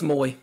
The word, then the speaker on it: Moy: It's Moy. It's Moy. Okay. My fault. I've been per per the pronunciation guide on UT Sports.